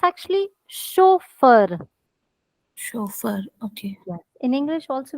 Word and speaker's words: chauffeur: are learning now is if there is ch it sounds like sure so another rule that